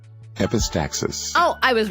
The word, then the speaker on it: epistaxis: learn that it's one of my favorite words epistasis epistaxis I cannot say it freaking I'm going to I'm going to search it up how to pronounce epistaxis epistaxis oh I was right epistaxis epistaxis nose bed